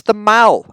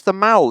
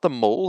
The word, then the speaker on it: The Mall: It's the Mall. Ask the Queen, she knows. It's the Mall, that's where she lives. Not the Mall, that's where you go shopping.